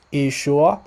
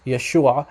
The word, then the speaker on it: Yeshua: letter i in so in some dialects of Aramaic it's pronounced issue and some dialects Yeshua just like in the Hebrew so the Western dialect of Syriac the Western Aramaic dialect it's pronounced Yeshua very similar actually identical to how it's pronounced in Hebrew okay so what he